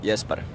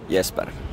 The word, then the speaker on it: Jesper: If you want to be really Nordic about it, then it's Jesper, yeah. Jesper. Otherwise, Jesper. Jesper, yes.